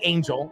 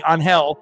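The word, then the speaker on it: Ángel: up being Martinez and it's Angel, you know, it's probably not going to be Angel. It'll be Unhell.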